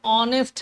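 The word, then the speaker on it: honest: किया है अब देखिए ऑनेस्ट में एक साइलेंट होता है लिखा भले ही एसएचओ next9 है लेकिन पढ़ते ऑनेस्ट है क्या करते हैं और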